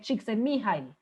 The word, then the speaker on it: Csikszentmihalyi: Pues yo sé que usted lo lee allá abajo y esto es un apellido impronunciable, esto se lee Csikszentmihalyi.